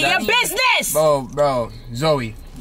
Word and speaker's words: Zoe: your business oh bro zoey my name is not joey it's zoe what is how you